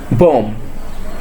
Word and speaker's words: bomb: B is silent when it's placed after M.